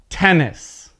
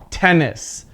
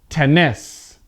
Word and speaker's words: tennis: is pronouncing it correctly tennis okay the stress is at the first part of the word tennis now i'm gonna mispronounce it see if you can hear it tennis tennis okay so i'm not